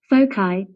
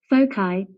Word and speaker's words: foci: pronunciations of Bosa there's an American and English pronunciation and we're gonna let Google tell us that both I both I foci foci well since I live in Georgia and that's